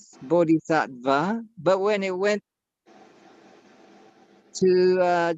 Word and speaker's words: bodhisattva: aggressive oh so in in India they do pronounce the V and and so like bodhisattva would be pronounce bodhisattva but when it went